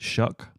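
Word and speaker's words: Shough: Shook, however you pronounce it. Is that right? Shock. I think it's Shock. Not Shock or Shock. Or Shock. Shock. Shock. Shock. Not Shook. Shock. So, S O S H O U G H is shock or shook.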